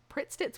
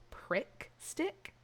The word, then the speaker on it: Pritt Stick: I had a friend that would sniff a Pritt stick and pretend to be high. Pritt sticks were elite. I always thought it was prick stick, not Pritt stick.